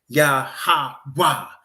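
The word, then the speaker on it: Yahweh: But that's not how it's said in Hebrew. Yahwa is how it's said in Hebrew.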